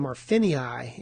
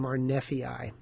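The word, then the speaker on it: marneffei: You might have heard of penicyium marphinei. Actually, it's penicyium marfi. And I'm not going to bother to go back and change that pronunciation.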